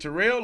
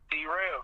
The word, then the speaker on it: T-Rell: And how do you pronounce? I keep saying T-Rell. Is it Terrell or T-Rell? T-Rell.